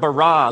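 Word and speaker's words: בָּרָא: Now, the word for create is the word bara. Let me hear you say bara. It's this forceful, energetic word of making things out of nothing. In the beginning, Elohim barad the heavens and the earth.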